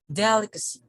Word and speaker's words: delicacy: ceremony delicacy delicacy delicacy delicacy okay the stress falls on on the first syllable okay delicacy okay so